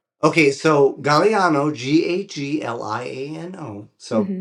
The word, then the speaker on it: Gagliano: people immediately believe it's Gagliano, but it's Gagliano, right? Gagliano. I went to Sicily, which is where my family is from. Okay. Just to confirm how to say my name.